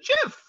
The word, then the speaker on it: GIF: say well i've heard that everybody calls it jif and then someone else says well choosy developers choose jeff the the original guy that invented it it's